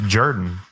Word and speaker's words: Jordan: He mispronounced Jordan several times. Well, it's Jordan. Jordan Ta'amu.